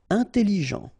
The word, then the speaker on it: intelligent: Intelligent. Final T not pronounced, so G-E-N, Jean, okay? Intelligent. Double L, it opens the pronunciation of your E, so it's E.